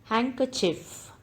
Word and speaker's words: handkerchief: word is h honor handkerchief d is silent in this word handkerchief doubt the letter b